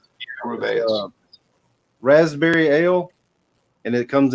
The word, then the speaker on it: Rubaeus: I think that's how we just got decided it's pronounced. Rubaeus.